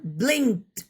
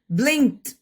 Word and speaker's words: blinked: Spelling എങ്ങനെയാണ്? BLINKED എന്നാണ്, പക്ഷെ നമ്മൾ ഉച്ചരിക്കുക ട് എന്നാണ്. ബ്ലിങ്ക്ഡ്, ബ്ലിങ്ക്ഡ്, ബ്ലിങ്ക്ഡ്, ബ്ലിങ്ക്ഡ്, ബ്ലിങ്ക്ഡ്, ബ്ലിങ്ക്ഡ്.